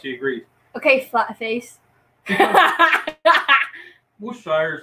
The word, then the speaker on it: Worcestershire: The W sauce is difficult to pronounce. He agreed. Okay, flat face. Worcestershire is like the worst.